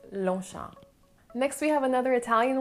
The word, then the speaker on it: Longchamp: french it's more sha so it's longshan so the g and the p at the end are silent which makes lonsha next we have another